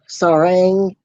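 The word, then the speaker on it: 사랑: Sarang. It's kind of like saying saw, but without the W. And R is mixing the I and R sound. Ang is like saying wrong about ong.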